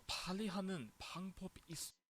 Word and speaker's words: 빨리: 이것들 더 빨리 하는 방법이 있어. So you need to pronounce, especially this word here, 빨리, needs to be pronounced with the twin sorry, because like it needs to be tensed, because I know it's